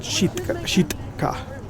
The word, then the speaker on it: Sitka: then um it's been renamed back to shitka or as guess the natives would pronounce it shitka small really small town